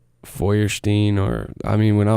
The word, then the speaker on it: Feuerstein: real bad no it's Firestein so it's like well one time it's Firestein Firestein yes so it's actually like German oh I think it's pronounced like Feuerstein or I mean when